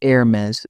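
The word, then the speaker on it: Hermès: The French pronunciation is Hermes with a softer tone.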